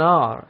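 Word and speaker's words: hour: at this here an r here h is silent an r any glue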